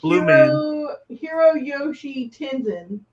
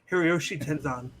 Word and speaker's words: Hiroyoshi Tenzan: Blue Hiro Yoshi Tenzin. Hiroyoshi Tenzan.